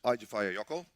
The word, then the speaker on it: Eyjafjallajökull: Fifthly, it's pronounced Eyjafjallajökull.